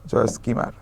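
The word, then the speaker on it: Joyce Kilmer: হ্যাঁ, এলটা উচ্চারণ হয় না, জয়েস কিমার।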